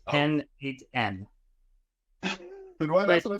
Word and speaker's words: n8n: It's pronounced N8N.